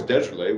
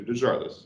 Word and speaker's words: DeJarlis: um they started out um he was always desolate which made sense and that's that is the correct pronunciation but um radio announcers couldn't pronounce desolate